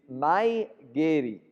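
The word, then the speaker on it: mae geri: that's not in japanese in japanese it's mai geri so together say may getty so front kick is mygerii all right so you've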